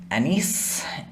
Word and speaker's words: anise: of the episode is anisse anis it's pronounced a couple different ways um i'm probably gonna